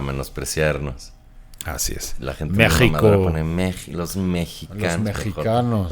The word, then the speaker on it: México: O sea, la X no tiene sonido de J en español, pero en algunos casos se hacen excepciones, en estos que se cambió de sh a J. Como México, o sea, en realidad se pronunciaba México.